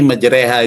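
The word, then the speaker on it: مجريها: Bismillahi majroha tulisannya, tapi dibaca bismillahi majreha itu ada tandanya imalah.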